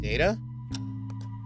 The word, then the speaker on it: data: Thank you for that, Data. or data, since both pronunciations are correct.